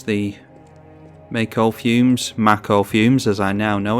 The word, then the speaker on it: Mako: Thinking that it's the Mako fumes, as I now know it's pronounced.